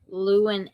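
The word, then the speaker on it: Llewyn: And then we have inside Luen Davis. Yep, I said it right. Woohoo. Inside Luen Davis.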